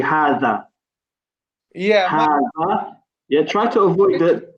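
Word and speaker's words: هذا: Yeah, so try to avoid the Z sound. Okay. It's more like a TH sound.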